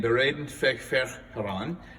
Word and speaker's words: Bereden väg för Herran: beraden feig fer haran now i pronounce that in the german pronunciation it's actually it's swedish and i don't i'm not good with swedish so if you know how to pronounce it i hope i didn't offend you um this advent hymn